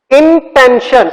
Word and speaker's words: intention: T-I-O-N is pronounced as shun.